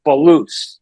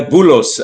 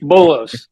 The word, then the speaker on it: Boulos: name is Dr Balo uh Dr Balo thank you so much for joining the program I hope I got your last name pronounced properly yeah bullos actually bullos bullos Dr M bullos uh